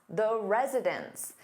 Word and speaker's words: residents: But when you have an S on that noun, meaning more than one, it sounds exactly the same as residence, which is a place where someone lives.